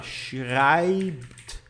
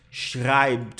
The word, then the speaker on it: schreibt: As letras SCH têm som de CH, as letrinhas E e têm som de AI.